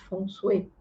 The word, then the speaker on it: Feng Shui: Hoje em dia eu não tenho usado mais para trabalho, mas vou repensar isso, que é o Feng Shui, ou como se fala corretamente, Feng Shui.